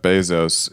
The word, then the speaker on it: Bezos: uh racist about Jeff Bezos is that he has his last name rhyme with pesos which is the Mexican